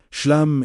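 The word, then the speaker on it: Shlem: Step two, the declaration of Shem. Speak this word aloud. Slowly, S H L E M pronounced "shoo-lum". Let the final sound, the M, vibrate at your lips. Do not rush it. Shem is the call to wholeness.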